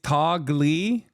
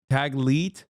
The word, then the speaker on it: Taglit: It's Tagli, is it? I don't know how to say it. Taglit. Sorry. I mispronounced it.